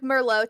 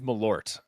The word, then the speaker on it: Malort: Ellie asks, why does he drink Merlot to feel quirky and different? She means Malort.